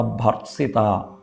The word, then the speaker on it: ഭർസിത: അവിടെ ഭർസിത, ഭർസിത എന്നാണ് ഉച്ചാരണം.